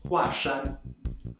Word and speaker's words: 华山: as someone's last name, it is read as a fourth tone, Hua. That's right, yet another of those duoyinzi, or polyphonic characters. So we say Huashan, Huashan.